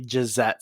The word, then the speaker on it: Jzette: It's actually Gisette Sparks, and that's spelled Jzette and then Sparks, which is Sparx.